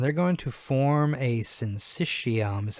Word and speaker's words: syncytium: muscle cells and they're going to form a synthetium is how to pronounce that word a syncytium is a collection